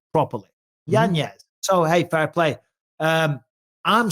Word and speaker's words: Yanez: He said his name is traditionally pronounced Yanez, but because of the spelling Yanez, people at school and all the rest, he's called him Yanez, and he's like, whatever, I don't care.